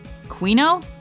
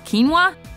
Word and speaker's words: quinoa: it how else would you say it Queen oh wait what it's quinoa quinoa quinoa for those of